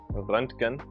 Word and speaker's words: Röntgen: You know, you got the umlaut really right. The Ö sound is exactly that. Röntgen.